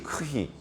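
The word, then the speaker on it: Χ: 헬라어 알파벳에서는 X라고 하지 않고 크시라고 하죠. 크시. 크히. 네. 크히. 그래서 크히스트로 그리스도를 그렇게 이제 발음을 합니다.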